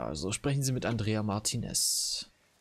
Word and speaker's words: Martinez: So, wir sind jetzt eher, also sprechen Sie mit Andrea Martinez. Martinez, Entschuldigung, Betonung auf dem I.